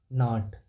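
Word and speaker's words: gnat: को नॉट कहते हैं यहां पे जी साइलेंट है जी को नहीं पढ़ा जाता है तो इसका ऑप्शन ए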